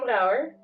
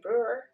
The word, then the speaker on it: Brouwer: So I'm Brouwer, 25 years old. That's how you pronounce it in Dutch. Or in English, Brewer.